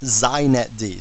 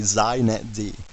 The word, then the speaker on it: xinetd: me just say a couple things first it's pronounced zet D so if you want to be hip you say zet D okay and secondly it's the epitome of why